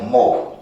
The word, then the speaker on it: mho: है मोव, MHO, मोव, and this word मोव is nothing but Om spelled reverse. मतलब ओम का जो spelling है OHM, उसको आप उल्टा लिखो तो क्या लिखोगे, MHO, दैट बिकम्स मोव।